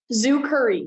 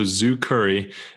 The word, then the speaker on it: Zukurri: So you started this company, Zukurri. Am I pronouncing that right? Zukurri, yes. So things Zukurri. Like zoo and then curry like the spice. Okay. Awesome. Yeah. So Zukurri.